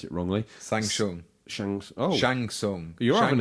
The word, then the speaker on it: Shang Tsung: Chang Chung and Nightwolf are out now. So if Mortal Kombat fans have no idea what I'm talking about, it's probably because I pronounce it wrongly. Shang Tsung.